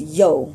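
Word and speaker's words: ё: dots on top and it's pronounced as yo so you know like that calling when you call your friends or anyone you'd say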